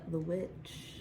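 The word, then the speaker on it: The VVitch: my number three uh is technically spelt with two v's um but you don't pronounce it that way yeah but whatever I feel like you should um but it is is the witch yes witch which is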